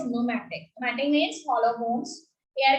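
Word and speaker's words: pneumatic: न्यूमैटिक bones are there, P is silent and the term is न्यूमैटिक।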